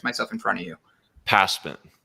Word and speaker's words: Pasman: Pasman.